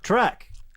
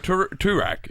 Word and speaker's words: Toorak: Track. Yeah, but Andy said track. Guys, No, I do you didn't. have the I just- same point? It's not if you'd call it Toorak. It's called track.